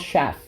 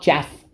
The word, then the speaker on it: chaff: you're hearing it right i'm not mispronouncing it c h a double f is not chaff it's shaft all right so shaft